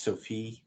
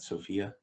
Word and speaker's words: Sophie: It's Sophie, not Sophia.